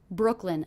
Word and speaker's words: Brooklyn: in Brooklyn in Brooklyn Brooklyn a two-syllable word one of the syllables will be stressed what do you hear as being stressed Brooklyn Brooklyn definitely it's that first syllable Brooke Brooke Brooklyn Brooklyn